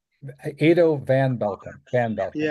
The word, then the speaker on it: Edo: First name is Ado. Ado like potato. Yeah, that's the way I use it. I tell people it rhymes with potato.